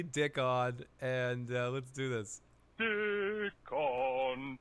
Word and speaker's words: Dickon: Everybody gets his name wrong. Yes, his name is actually Dickon, and let's do this.